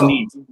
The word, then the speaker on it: Neve: but as long as we're talking about pronunciation, isn't it Neve Campbell? I think it is. I think it's Neve. Yeah.